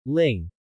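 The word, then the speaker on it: 零: In Chinese, the number 0 is pronounced as ling, ling. The pronunciation of Lin can resemble ling in Mandarin.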